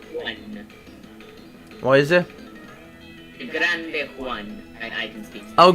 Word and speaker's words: Juan: Grande Juan. I can speak Spanish. El Grande Juan. So, as we see Grande Juan. here. It is pronounced as an H.